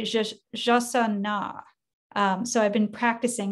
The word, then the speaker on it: jacana: It's not a jacana, it's a jasana.